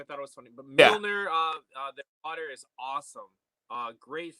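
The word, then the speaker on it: Mjölnir: But Mjolnir, the water is awesome.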